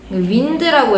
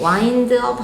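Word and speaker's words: wind-up: 윈드라고 읽으시면 안 되고 바람 아니고 야구 좋아하시는 분들은 알 거 같은데 와인드업 하면서 이렇게 와인드라는 단어인데 이거 혹시 알아요?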